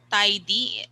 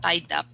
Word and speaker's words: tidy: i tidy up again tidy two syllables tidy up not tied up okay so tied up is different it's a different word okay tidy up okay